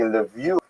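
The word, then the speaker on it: Lviv: town here which is written in this map as Leviv. That's the Ukrainian pronunciation. This is a map of Ukraine. It would be Levie in the local dialect. It was known as Lav to P to Poles and Lamburgg as to Germans. And so Jews would choose whichever one they wanted.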